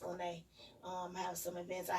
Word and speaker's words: Lena: spell like lena but it's pronounced lynae um have some events